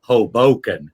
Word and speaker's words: Hoboken: I think, Matthew, if I may, I think what's confusing everybody is that you're mispronouncing the name of the city, which is Hoboken.